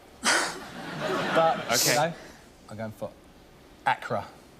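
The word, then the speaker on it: Accra: So, Acra, if we're going to be the pronunciation, please once again, it's Acra. A lot of people say Ara.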